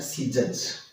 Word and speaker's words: scissors: इसका उच्चारण होता है सीजज।